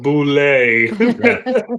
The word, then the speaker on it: boulet: It's a boulet. That's what the pin says on the top of it. It's pronounced boulet.